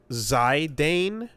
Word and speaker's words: Zidane: So, this actually makes me think of uh Zedane from FF9, where I know it's pronounced uh Zidane, like the soccer player who was popular for that headbutt meme about a th a